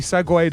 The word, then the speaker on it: segue: I feel like that's actually segued us really nicely. And did you know segue is spelled S-E-G-U-E?